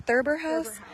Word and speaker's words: Thurber House: It's pronounced Thurber House.